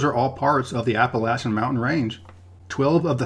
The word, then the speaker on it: Appalachian: mispronounce things on this channel but the correct pronunciation of the mountain range is in fact appalachian people in the north and west will usually say appalachian which hurts my ears to even say that